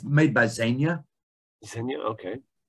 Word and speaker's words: Zegna: Is it Z-E-G-N-A? Z-E-G-N-A. Okay. I won't even, it's Ermingeldo, the first name. I'm sure I butchered that pronunciation, but Zegna, yeah, very well-known Italian design house.